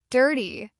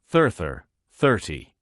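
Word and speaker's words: thirty: Dirty. Wait, did I say it wrong? Almost. You said dirty instead of 30. Try putting your tongue gently between your teeth. 30.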